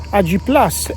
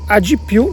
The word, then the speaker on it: AG+: AG+ è la pronuncia in inglese, AG+ se si vuole pronunciare in italiano.